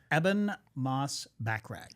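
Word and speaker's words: Ebon Moss-Bachrach: His name is Eban Moss Back.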